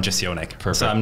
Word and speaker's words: Jesionek: So for the name, the Polish pronunciation would be Jesionek, but because I grew up in Austria, the German pronunciation is Jesionek, and then I usually just go by the English one, Jesionek.